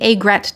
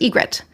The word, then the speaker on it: aigrette: Then we have one of my personal favorites, the aigrette tiara, also sometimes pronounced egret.